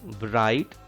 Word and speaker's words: bright: GH are two letters which are silent in this word bright. GH are silent here.